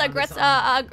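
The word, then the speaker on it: Aggretsuko: It's pronounced Agretsuko. Agretsuko, Agretsuko, yeah.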